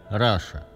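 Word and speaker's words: Russia: языке Вопреки всем правилам слово руссия произносится как Раша то есть англичане видят латинские буквы в слове руссия понимают их Но вопреки правилам своего молодого языка это слово произносят как Раша это можно было бы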